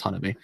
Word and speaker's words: Hanabi: Yeah, it's Hanabi. Yeah, I kind of feel like she's going to be the person to stop any single interaction that Mugi will have with Hanabi.